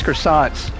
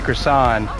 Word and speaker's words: croissant: used to buy us croissants, she used to tell me, "Hey, it doesn't have a T in there or the T is silent." So she would say croissant without the t.